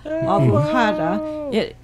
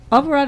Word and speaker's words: Alvorada: First, I'll pronounce it Alforada America, and Alforada is ALVO, like Alvo, and then RADA, like Rada. Alvorada. Alvorada is Portuguese.